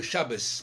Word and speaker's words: Shabbat: Par exemple, le Shabbat, on disait Shabbos, parce qu'effectivement, le T, le tav avec accent, avec dagesh, se prononce te, et sans dagesh, fe.